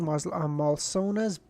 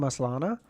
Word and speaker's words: Malsona: had planned on using Malsona's... Oh wait, I've just been pronouncing this fucking guy's name wrong the whole time, haven't I? I think I've been calling him Moslana, and it's Malsona.